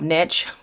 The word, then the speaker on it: Niche: I'm still going to call her Niche, even though she calls herself Niche. It's pronounced niche.